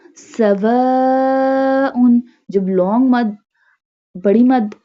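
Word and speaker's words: سَوَاءٌ: Scene को सीटी के आवाज से अदा किया जाएगा और अलिफ के ऊपर मद है सो इसे खींचा जाएगा. सवाउन.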